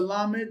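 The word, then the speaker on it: למד: That is the lammed. That is your Hebrew L sound. Lammed. La. Lammed.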